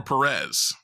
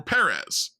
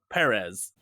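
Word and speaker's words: Pérez: begs the question Salvador Perez yes shouldn't it be which explains why people pronounce it Salvador Perez perezz don't exist in the Spanish language it's an S sound so it's AE couple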